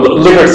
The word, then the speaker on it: Likert: And by the way, so Likert scales are the most common example of summated rating scales. It's actually pronounced Likert, not Likert, as many people say.